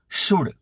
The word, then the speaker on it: should: समझी ल पहलो शब्द शुड स्पेलिंग जोई लो शुड एस एच ओ यू एल डी उच्चार खास शुड शुड श बोलवा बोलो श अने ड शड शड न अर् क करव